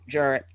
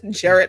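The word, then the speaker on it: Jarratt: uh uh Jarrett Virginia Jarrett we we never we do not pronounce it properly Jared Virginia uh dad's from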